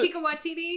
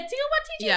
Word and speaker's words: Taika Waititi: Taika Waititi? Yeah, Taika Waititi. Because remember, I couldn't say it. Him as Taika Waititi.